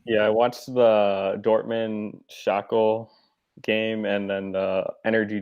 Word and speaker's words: Schalke: So I love that you call it Shackle. I'm not sure if that was like a mistake. I can never figure out how to pronounce it. So Schalke, but Dylan likes to